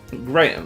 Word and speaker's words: Graham: Except he doesn't say Graham. He always pisses me off when you do it wrong. Oh no. What does he say? Graham, because that's how Brits say it.